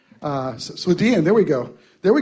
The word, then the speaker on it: Swedien: I can hardly pronounce that right. I can never say his last name. Swedien, there we go.